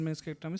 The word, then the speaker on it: meniscectomy: Meniscectomy, partial meniscectomy, subtotal and total. Meniscectomy only. C is silent. Meniscectomy.